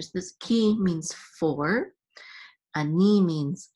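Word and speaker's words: אני: So it's ani. The accent is on the second syllable.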